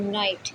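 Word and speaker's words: knight: किसी भी स्पेलिंग में के बाद अगर एन है और उसके बाद कोई वोवल आता है तो कहाँ वहाँ के क्या होता है, साइलेंट होता है, यानी कि के नहीं बोला जाता।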